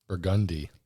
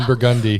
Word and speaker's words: Burgundy: Ron Burgundi. Ron Burgundi. Yeah, it's Burgundy. Uh, and now people are understanding. Have some empathy for why like this. This is spelled Burgundy.